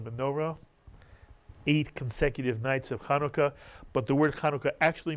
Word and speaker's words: Hanukkah: Kia or the menorah eight consecutive nights of Hanukkah but the word Hanukkah actually means dedication since